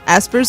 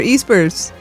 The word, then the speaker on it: Espers: How about this one? Aspers or Espers? Espers. Which one is it? I would always say Esper. I've always said Aspers.